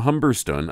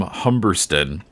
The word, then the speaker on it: Humberstone: Yeah, so this book is called Suzanne by, I'm guessing his name is pronounced Tom Humberston, British. It looks like Humberstone to us, you know, benighted Americans, but I think they pronounce it Humberston in the UK.